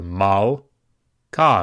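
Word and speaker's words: מַלְכָּה: So mal, ka. Notice the patach, the pathak, is a short vowel. Mal, ka. So you don't pronounce it. It is a silent Sheva.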